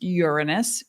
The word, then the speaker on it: Uranus: Revolutionary change that Uranus represents and it is pronounced Uranus because it's a Greek word urano meaning the